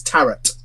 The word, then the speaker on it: tarot: It's tarot. Okay, all right, it's tarot. Like carrot.